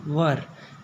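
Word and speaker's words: were: subject plus was वर, कई बच्चे वेयर बोलते हैं, इसको वेयर नहीं होगा, इसकी राइट प्रोनाउंसिएशन होगी वर, प्लस वर्ब का फोर्थ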